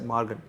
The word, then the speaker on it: Maargan: Isa people, Mallayalam, Canada, everyone will be finding it easy to pronounce this word as Morgan.